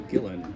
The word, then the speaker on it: Gillan: hello this is Gillan like Dylan with a G okay spell his Please